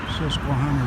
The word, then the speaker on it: Susquehanna: ahead check it out that the old truck Susquehanna River that's how you say it can't where